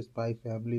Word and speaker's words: Spy x Family: रहेगा स्पाई एक्स फ़ इसको अगर आप रीड करते तो स्पाई फैमिली होता है क्योंकि एक्स साइलेंट है।